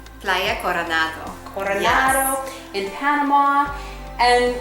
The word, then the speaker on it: Playa Coronado: We're at your beautiful place in, and I'm going to say it wrong, Playa Coronado? Playa Coronado.